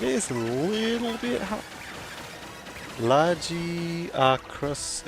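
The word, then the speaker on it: Lagiacrus: Lagiacris is the initial pronunciation in game, but I'm used to saying Lugiacris.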